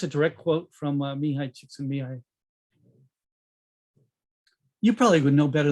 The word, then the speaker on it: Csikszentmihalyi: I think that's a direct quote from Mihai Csikszentmihalyi.